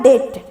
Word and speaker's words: debt: आगे 5 नंबर में हम लोग देखते हैं DEBT, इसमें देखिए हम साइलेंट बी है। कैसे साइलेंट बी है, DEBT, जिसका प्रोनाउंसिएशन होता है डेट।